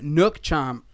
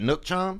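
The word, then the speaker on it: nước chấm: That one's gonna have lemongrass beef as the base, and gonna also have a nook chom. I said it wrong. Hand me that hot time. Sauce, Daddy. That nook chom?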